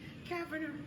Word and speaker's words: Cavender: Cavender. Okay, this ain't gonna work. I'm country. Go ahead and pronounce that. It's Cavender. Yeah. It's like lavender. Yeah.